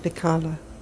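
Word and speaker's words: Dechala: Terror of Dakala. That's how you pronounce the name.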